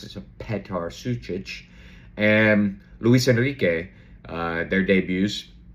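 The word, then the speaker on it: Petar Sučić: I got was telling me I needed to pronounce it. So Petar Sucic and Luis Enrique, their debuts.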